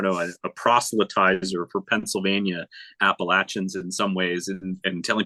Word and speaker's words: Appalachia: uh I don't know a protier for Pennsylvania Appalachians in some ways and telling people did you